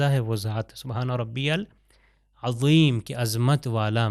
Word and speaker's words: العظیم: وہ ذات سبحان ربی العظیم کی عظمت والا. مگر اگر زے سے تلفظ غلط کر دیا جائے تو مطلب اس کا چینج ہو جاتا ہے.